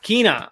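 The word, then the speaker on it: Kena: Kina? It's Kina. Okay, I said it right.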